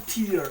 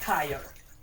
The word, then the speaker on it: tier: And it's bottom tier and not tire. It's not a tire, it's a tier level.